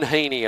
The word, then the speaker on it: Heaney: at the half time it's Reuben Heaney I've been calling him Haney for years and finally I know so thanks to uh Reuben's dad all the way from Canberra providing me with a little a little tip there on how to pronounce his family name the uh the advice was actually it's teeny like eeny meeny miny moe having a good day